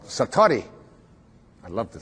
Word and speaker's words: satori: it's called excuse my japanese but it's called satori i'd love to say that s-a-t-o-r-i and it